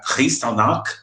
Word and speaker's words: Kristallnacht: da Segunda Guerra Mundial, tá, que é a Kristallnacht, né, que é a pronúncia, né, em russo, lembrando que eu falo russo fluentemente, tá?